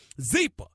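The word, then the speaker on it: Zyppah: Zeepa is pronounced Zeepa. It's spelled Z-Y-P-P-A-H. It's easy to remember because Zeepa is happy Z spelled backwards.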